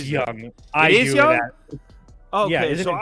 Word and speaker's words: Jung: It is Young.